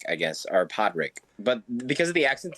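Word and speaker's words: Padraic: and uh Podrick uh I can't never pronounce his name is it Podrick or project all right all right yeah there you go partic and column partic part I said you know what p-a-d-r-a-i-c Ard Rick I guess or Podrick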